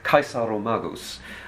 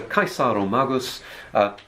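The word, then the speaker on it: Caesaromagus: you get things like i'm going to pronounce it as if it were latin i rather than get complicated about how the celts pronounced it okay so this is a kaisaro magus where kaisar is is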